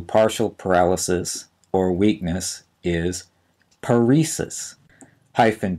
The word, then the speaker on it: paresis: that refers to partial paralysis or weakness is paresis hyphen p a r s i s the